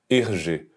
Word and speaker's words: Hergé: o pseudônimo ele aparece quando você inverte as iniciais RG que no francês se pronuncia erge ele é amplamente considerado